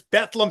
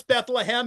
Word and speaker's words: Bethlehem: You and I were talking before because I've been told it was Bethlehem, Pennsylvania. You said, no, it's Bethlehem. It's 3 syllables.